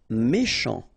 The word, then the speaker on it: méchant: Méchant. Final T not pronounced. Then C-H, ch, chant, méchant.